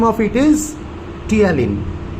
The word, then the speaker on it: ptyalin: The other name of it is ptyalin. P is silent like pneumonia.